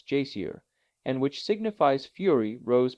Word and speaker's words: geyser: the waters the geyser a word the icelanders pronounce Jer and which signifies Fury